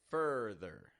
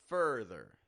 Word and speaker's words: further: this back to me further further fur stressed rising in tone the flat and quick and quiet in tone just like all eer word endings further now repeat both these